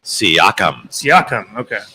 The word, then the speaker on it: Siakam: and pascal what's what's that how do you pronounce that last name siakam now that we know the rundown of the